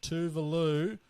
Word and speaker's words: Tuvalu: our Melbourne analyst, but he said Tuvalu rhymes with coral.